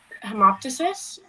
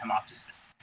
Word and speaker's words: hemoptysis: The denial in hemoptysis.